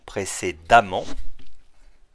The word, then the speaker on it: précédemment: je vous rappelle que les adjectifs qui finissent par ent Wante double le M à l'adverbe et on garde le E même si on prononce a précédemment et bien c'est